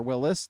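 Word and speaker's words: Willys: the war and everything those are willies or Willis depending on what you like to pronounce it as battles it's 20 23.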